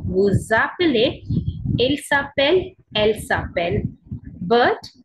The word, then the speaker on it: vous appelez: Now this one is vous appelez, z sound come, vous appelez.